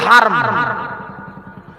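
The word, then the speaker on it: الحرام: হারাম নয়, হারাম বললেই গুনাহ হবে। মসজিদ হারম বানান করে দিচ্ছি, মসজিদুল হারম। হে রে মিম হারম, এ আলিফ হলে মিম হলে হারাম হয়, হয়াকার রয়াকার ন হারাম মানে নিষিদ্ধ, আর হরম হারম, হারম হচ্ছে সম্মানিত। মানে গুলো মসজিদুল আকসা, যার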